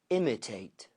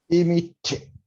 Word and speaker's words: imitate: It's not imitate and it's not imitate. It's imitate.